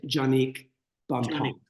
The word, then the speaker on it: Yannick Bontemps: score that's done by, please correct me if I'm pronouncing his name incorrectly, but is it Yannick Bontemps? Yeah, it's Yannick Bontemps.